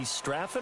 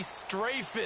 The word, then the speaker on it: Strafen: It was held in mid-December, and your winner, I.B. Straffen, or is it I.B. Strafen? You've got the pronunciation guide. I.B. Strafen. Strafen. My bad, Mr. Strafen.